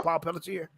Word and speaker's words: Paul Pelletier: aquaman series that was good was drawn by paul pelletier is that how you say his name paul pelletier yes the the rebirth the dan abner one